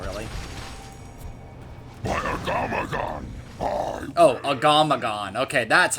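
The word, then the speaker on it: Agamaggan: that difficult of a fight not really oh agamagon okay that's how you say it so yeah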